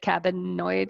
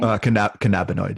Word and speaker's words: cannabinoid: and the endocan cabinet how do you say it cabinoid is that right cannabinoid yeah cannabinoid i'm like i know